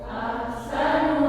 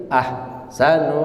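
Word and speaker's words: أَحْسَنُ: Ahsanu amala. Iya, baik, perhatikan pengucapan ahsanu. Ha ketika disukun dia sifatnya rakhawah. Rakhawah itu mengalir dia. Ya, ahsanu tidak boleh berhenti ahsanu amala, tapi ahsanu. Nah, begitu nggih.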